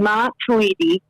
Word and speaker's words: Matuidi: they signed blaze matuidi um and that's the pronunciation mom tweety uh he is they have been promising for